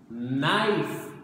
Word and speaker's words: knife: This one is tricky. Knife. Knife. sound of the N, but this one starts with the letter K.